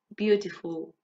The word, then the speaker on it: beautiful: Try not to pronounce the U in the middle. Full, full. Can you do that? Thoughtful, beautiful.